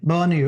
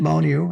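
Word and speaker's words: Bonnieux: And uh we set up for two nights in this small little town called um uh B um Bonu. Bonu Bonu.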